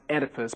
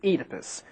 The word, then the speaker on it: Oedipus: this guy's name pronounced Oedipus but we pronounce it Oedipus why because we like it that way yeah actually is because this pronunciation is more true to the Greek original Oedipus Rex a tragedy